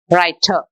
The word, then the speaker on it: writer: postman okay about suppose writer e r r is silent so that ends with this sound a writer and a